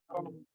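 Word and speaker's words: Hung: Avec O-H-U-N-G. Ça s'écrit H-U-N-G. On le dit Hong.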